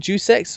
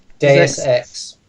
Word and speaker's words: Deus Ex: Juice X? I'm not saying that pronounced correctly. There's X. Deus Ex. Deus Ex for under £7 right now.